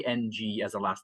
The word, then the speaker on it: Ng: How do you say NG as a last name?